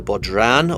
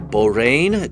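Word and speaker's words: bodhrán: course i've talked about the bodran or the borane depending on how you want to pronounce it and then of course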